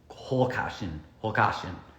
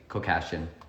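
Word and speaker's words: Khoucasian: I'm going to try to say her last name in the Armenian, Holkashin. But you know her as Sylvie Kokashin if you pronounce it like I do, because I can't do that rolling HR thing.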